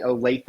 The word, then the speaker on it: Olathe: The Okies finally pronouncing Olathe right, so that's a big deal for me.